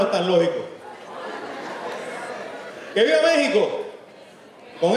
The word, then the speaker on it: México: ¿Que vive México? ¿Con X o con J? Las dos están correctas. ¿Quién dijo eso? Eso. Se escribe con X, se pronuncia con J, lo puedes escribir también